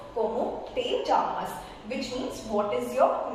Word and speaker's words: llamas: But yeah so this double L here I will mention Jamas. Though it's mentioned as double L but it pronounces jamas means what is your